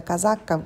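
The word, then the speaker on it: casacca: вещь которую я меряю это так называемая казака на итальянскому на так произносится называется эта вещь сойдет из-за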